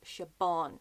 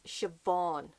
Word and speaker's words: Siobhan: about is Siobhan Vivian I hear her name being pronounces Chabon chiffon Vivian it's Siobhan it's a buh B hich makes a buff signed don't ask me why and si is Asha don't ask me why